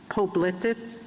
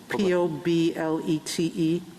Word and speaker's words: Poblete: Arizona case, state versus, I'm pronouncing it wrong, Poblete, P-O-B-L-E-T-E, federal law. Well, how do you say it? Poblete. Poblete. Okay. I should have said it in Spanish to start with. It is poblete.